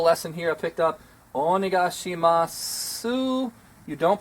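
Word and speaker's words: お願いします: here I picked up onegai shima su you don't pronounce the O you drop the the vowel at the end but it's not completely dropped we wouldn't just say onigashima it's oh my gosh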